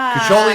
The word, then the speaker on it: Koli: exactly Koli yeah Koli Koli is the Italian way to say my name but in in America they've kind of you know dropped it but now that I'm studying Italian I like to say Koli but this is why